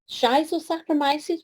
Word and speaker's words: Schizosaccharomyces: Another organism, this is the Schizosaccharomyces, which would be the US pronunciation, or Schizosaccharomyces pombe, is the non-Saccharomyces yeast that's been around the longest.